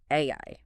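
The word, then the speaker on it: 愛: It is the stroke count of the Japanese kanji for love, which is pronounced AI.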